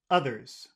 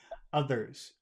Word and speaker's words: others: was others. Other. You've got to put your tongue under your teeth. Others. Others. Others. Others. Other. Others. Other. Others. Other. Others. Tongue under teeth.